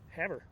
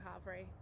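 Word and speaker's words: Havre: montana uh and from there we went to haver that's right we were pronouncing it havery which i still am but it was wrong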